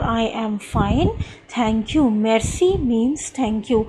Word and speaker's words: merci: am fine Thank You merci means thank you it is not mercy students please be particular about the pronunciation mercy is an English word okay it is merci merci fine Kailash Ave